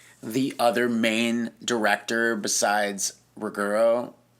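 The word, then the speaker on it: Ruggero: other main director besides Ruggiero. It's Ruggiero, that's how you say his name.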